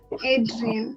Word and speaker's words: Adrienne: Yes, because it's actually a French name. Oh. So Mm-hmm. to get the pronunciation right, you have to turn around your tongue in R's and stuff. So I make it easier. And I Oh, say it right. in an more English friendly way.